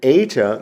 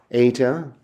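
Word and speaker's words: ἦτα: And eta makes a long E sound, like what we would find in the English word eight, eight. Eta, eight.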